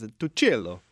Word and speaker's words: Tucillo: I grew up saying Tucillo, because that's what my parents said. But then I got them to bring back the Italian pronunciation, which two C's in Italian is Tucillo.